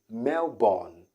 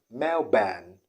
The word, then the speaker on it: Melbourne: city in australia now people usually say melbourne melbourne melbourne but that's not the right pronunciation the right pronunciation is mel ben ben ben ben melban not born not the all sound